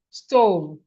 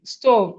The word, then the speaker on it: stove: O V stove S O V stove. This E is silent or the E is there but is silent.